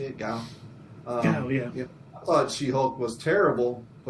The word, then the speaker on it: Gao: Gao?